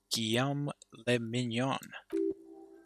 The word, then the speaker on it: Guillaume Le Mignon: meant only one thing guillaume lemignon if he doesn't rhyme you're not pronouncing it right if it doesn't rhyme